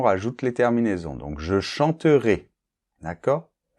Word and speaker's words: chanterais: les terminaisons, donc je chanterais, d’accord ? Alors ici, le -AIS doit être assez ouvert, théoriquement, mais suivant les régions en France, on a tendance à le fermer un petit peu.